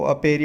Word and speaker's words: apiary: इसका प्रोनाउंसिएशन एविएरी होता है, एविएरी, ठीक है। और वो अपेरी होता है।